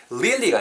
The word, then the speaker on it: really: 아싸도 발음 하실 때 입술 둥글게 말고 real real really really 요렇게 발음해 주시면 좋을 것 같아요 그리고 아이 음이 연결되면